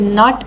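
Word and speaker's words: knee: The teacher has shown the diagram of अ नी। इसमें ए is silent. इसमें के is silent and एन इज़ अ कसोनेंट। That is व्हाई वी are using अ।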